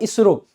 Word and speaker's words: ISRO: जैसे कि आपने देखा होगा इसरो, Indian space research organisation, लेकिन उसको कभी हम ISRO नहीं पढ़ेंगे। आप जब भी ऐसे लिखा देखोगे आप इसको इसरो पढ़ते हो, आप पढ़ोगे नाबार्ड,